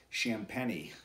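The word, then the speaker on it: Champagnie: brothers Julian and Justin champeny I talked to Julian today and I wanted to get the uh correct pronunciation on his last name never want to mispronounce somebody's last name and it's shamp penny so uh pit fans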